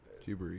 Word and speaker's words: Ghibli: So it's spelled Studio Ghibli, but it's pronounced Ghibli. Ghibli.